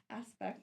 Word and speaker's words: Azpect: So, it is pronounced aspect, not as it's a funny story that very funny story.